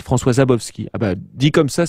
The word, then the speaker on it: Szabowski: lui François zabovski zabowski peut-être que le S ne se prononce pas juste on commence avec le Z François zabowski ah bah dit comme